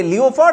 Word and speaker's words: leopard: Le I saw a leopard in the jungle this is wrongly pronounced not Le I saw a leopard